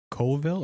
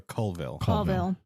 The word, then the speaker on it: Colville: into colville washington where wait what is it coldville or colville like ah it's spelled col but it's colville so they moved to